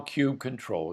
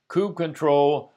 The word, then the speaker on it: kubectl: consensus in the Kubernetes community as to how kube control should be pronounced. Popular variations include kube control, kubectl, kubicuddle, and latrell. Say it like you feel it, but we'll use kube control here.